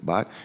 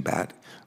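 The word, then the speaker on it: Bhatt: We'll now hear from our witness, Shailen Bott. Shailen pronounces his name Bat, but a lot of us in Delaware pronounce it Bott, and Bott and Sold. Like a batter to plate, but he'll answer to either one.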